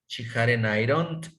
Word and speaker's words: ironed: She hadn't ironed. Recuerden que aquí es ironed. Ironed. La ED se pronuncia la pura D.